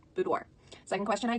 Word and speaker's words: boudoir: question I get is how do you pronounce it spelled to be oh you do IR and it is this pronounced boudoir boudoir so I can question